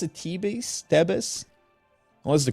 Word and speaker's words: Thebes: Tebes? What's the correct name? Well, in English dialect, it's Thebes. In Egyptian dialect, which Thebes. I can gladly respond, it's Thebes. Oh, I think it's Thebes. Thebes. But Tebes.